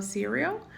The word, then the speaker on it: cereal: Cereal se escreve igual, mas em inglês se fala cereal.